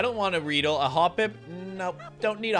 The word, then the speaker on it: Hoppip: I'm trying to make a hop, hop it, hop, pip, hop. All right, that's how you gotta pronounce it, dude. That's the real way to pronounce Hoppip.